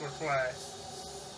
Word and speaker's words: Leclerc: Leclerc, even though it says electric, it's not, it's Leclerc, which is the E in it is silent when it's turned around.